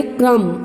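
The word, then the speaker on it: crumb: ठीक है, तो ये आपका बी लेटर जो है वो साइलेंट हो रहा है. इसकी प्रोनाउंस हम करेंगे क्रम. ठीक है, तो इसको भी आपको कलर करना है.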